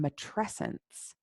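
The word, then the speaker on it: matrescence: is a term it's the term mature essence rhymes with adolescence and it is the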